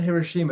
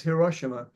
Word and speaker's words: Hiroshima: the way I think it's not Hiroshima it's Hiroshima I looked up how to pronounce it today and um there's going